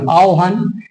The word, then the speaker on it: আহ্বান: আ হয় বয় আকার দন্তান্য আমরা এটা লিখি উচ্চারণটা কি হবে একচুয়ালি আ ও হ আকার দন্ত আওহান তাহলে জিউহা বিউহল আওহান এই যে আমরা সূত্র